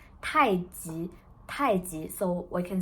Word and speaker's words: 太极: And actually the right pronunciation is 太极.